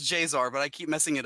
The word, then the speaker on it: Jaesar: and I was this pronounced just J it's pronounced J's are but I keep messing it up no it's